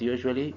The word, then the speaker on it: usually: So in pronouncing the word usually, we read the u sound like the y, you.